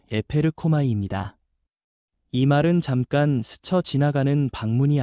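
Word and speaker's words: ἐπέρχομαι: 여기서 성령이 임하신다는 말은 헬라어 발음으로 에페르코마이입니다.이 말은 잠깐 스쳐 지나가는 방문이 아니라 이에서부터 실제로 덮치듯 임하여 삶을 바꾸는 능동적인 역사라는 뜻입니다.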